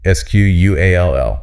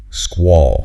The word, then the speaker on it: squall: S-Q-U-A-L-L. This one feels simple, but the vowel sound is important, right? It is. It has to be that deep aw sound. It rhymes with call or ball. Squall.